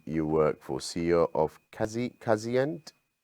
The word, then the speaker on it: Kazient: Prothome, did I pronounce it right, the company name you work for, CEO of Kazient? Kazient, yeah, that's absolutely correct. Kazient.